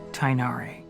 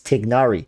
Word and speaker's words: Tighnari: sincerely your student tainari he says tainari i thought you guys keep telling me it's tignari where's the g the g tig nari people keep telling me it's technology boris say it like to ignari if if the even